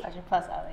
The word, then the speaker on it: Fajjr+ali: Actually, it's Fajjr+ali. Fajjr+ali, yes.